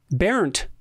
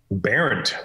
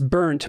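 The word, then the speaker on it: Bernt: Barent. Barent.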